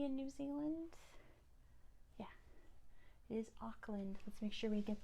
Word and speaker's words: Auckland: most populous city in New Zealand yeah is Auckland let's make sure we get that spelling it is a u c k l a n d aand it's pronounced ockland what's the capital of Australia class oh we